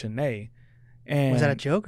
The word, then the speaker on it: Shanaé: was like yeah your your last name isn't actually pronounced it's pronounced shanay and is that a